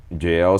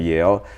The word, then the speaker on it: Yale: But then I realized, my mom couldn't pronounce jail, so she was calling it jail instead of Yale.